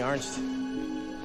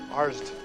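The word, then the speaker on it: Arzt: Let me answer something, Ernst. Arst. Ernst. No, not Arst. Arst. Arsed.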